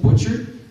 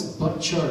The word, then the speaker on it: Butchart: and by the way his name is pronounced buttard when I interviewed he I asked him hey how do you say your name isn't it Butcher and uh he said no it's but chart I'm like hm he